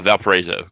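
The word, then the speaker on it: Valparaiso: How do you pronounce that? Uh, Valparezo.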